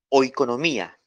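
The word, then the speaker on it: oikonomia: procede del vocablo griego o economía anote en el en el griego es la palabra o economía se escribe así O I latina K o n o m i a hoy economía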